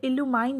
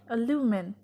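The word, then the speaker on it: illumine: ये इल्यूमाइन नहीं है, इसकी सही प्रोनाउंसिएशन है अल्यूमिन जिसका मतलब है रोशन करना.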